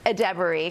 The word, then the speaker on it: Edebiri: One reunion we were not expecting was with, I want to say her name right, Ayo Edebiri. Edebiri, yes.